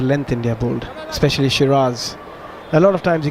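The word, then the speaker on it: Siraj: about uh Muhammad sir I say sir you say shiras yeah yeah it it's just feels counterintuitive I know I should say sherz cuz I heard his name pronounced out anyway what was so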